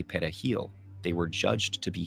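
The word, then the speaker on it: perejil: Spanish word for parsley Dominicans pronounce it pil with a trilled Spanish R the primary Haitian language however is crayle which doesn't use a trilled r so if people struggled to say pahil they were judged to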